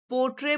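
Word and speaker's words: portray: पोट्रे बोलते हैं are silent है यहां पे।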